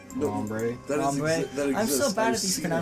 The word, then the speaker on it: Lombre: Is it pronounced Lombar or Lombri? Lombre.